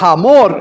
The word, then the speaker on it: Hamor: En el original es Amor, con H, pero este de Amor tenía poco. Amor, pero obviamente la nueva versión hace la traducción de esa manera para decirnos cómo se pronuncia, Hamor, ¿no?